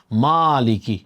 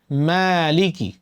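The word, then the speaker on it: مَالِكِ: তারপরে খেয়াল করুন মালিকি। মালিকি মিম পাতলা হরফ মিম জবর কি হবে? মা মা যেন না হয় আমরা বলি মালিকি মা মোটা হয়ে গেল আওয়াজটা মোটা হয়ে গেল আপনাকে বলতে হবে মালিকি মালিকি বলেন আমার সাথে মালিকি মা এক আলিফ টান আছে কিন্তু ঠিক আছে মা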